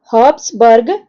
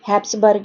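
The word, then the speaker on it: Habsburg: तो ये किया था हब्सबर्ग एम्पायर ने, या हैप्सबर्ग एम्पायर, जैसे भी आपको प्रोनाउंसिएशन सही लगे तो आप वैसे भी बोल सकते हो।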